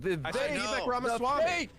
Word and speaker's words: Vivek Ramaswamy: I will say though, how can none of you guys pronounce his fucking name, for the love of God? Vivek Ramaswamy.